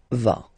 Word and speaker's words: vas: Same thing here, final S not pronounced. Tu vas.